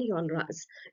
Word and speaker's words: genres: So other major works and यॉनराज. यॉनराज इज, अब आप कहेंगे कि मैम ने इसको यॉनरा क्यों कहा, क्योंकि लिखा इसे जाता है GENRES, but this is pronounced as यॉनरा.